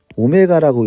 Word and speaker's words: 오메가: 얘는 이제 오메가라고 읽어야 되고요.